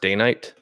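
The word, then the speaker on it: Dainite: And this particular boot has a day-night sole, which reads more like Danite, Danite. I believe it's pronounced Danite.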